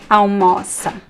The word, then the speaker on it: almoça: So the stress is in the middle, right? almoça, almoça.